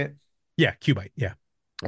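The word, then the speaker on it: QUByte: Q bite.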